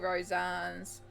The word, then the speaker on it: Rosanes: Like, Kerby, Rosanes, Rosanes, I have to remember Topanes. That's how I remember Rosanes, is Topanes, and Samsara was the one that worked that out for me.